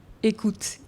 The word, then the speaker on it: Eickhout: rest of the French people, I believe, because écoute is how we tend to pronounce it.